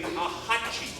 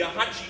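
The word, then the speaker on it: axatse: hooks it all together the aachi look at how it's spelled with the X the aachi Shaker we're going to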